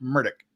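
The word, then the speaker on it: Murdaugh: you referring to how he himself pronounces it which is he pronounces it murdick I know they all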